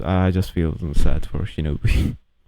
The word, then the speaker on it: Shinobu: I just feel sad for Shinobu. Shinobu. Right, that's the way to pronounce the name.